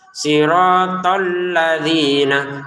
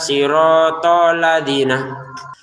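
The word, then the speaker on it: الَّذِينَ: Tekan ya untuk lamnya ini. Siratalladzina siratalladzina. Jangan sekedar siratadzina. Siratalladzina alladzi dua harakat nanya pendek.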